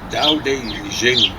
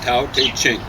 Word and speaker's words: Tao Te Ching: going to be reviewed Tao Te Jing, or Tao Te Zing, or Tao Te King, or the Tao Te Ching. I prefer that. But nowadays, I think they prefer the Mandarin pronunciation.